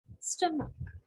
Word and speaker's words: stomach: so what is the correct pronunciation the correct pronunciation is stomach so it's s-t-u-h stop o-o is both read